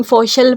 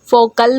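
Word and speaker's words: faucial: वो फोकल का है, यानी फोशल पढ़ो आप लोग या फोकल बोलो, आपकी मर्जी है, सही है।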